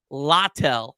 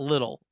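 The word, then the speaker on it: Littell: it's GNA be um Zack latel not little latel is how you say his name 3 and7 446 ER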